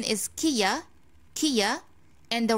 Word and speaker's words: Kia: all people saying right this is not kaya this is kia kia kia some ports